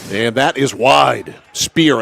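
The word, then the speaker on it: Spier: behind the net gauge spire and that is wide spear actually is how you pronounce his name SP p i e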